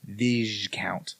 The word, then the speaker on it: viscount: I've never come across a word that if the S is at the end of a word, most of the time you don't pronounce it. Right. Well, Viscount is apparently one of those.